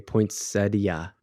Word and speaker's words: poinsettia: that's that's my problem I was putting the T on there and yeah you're saying that people are pronouncing the I a poinsettia like I don't know whatever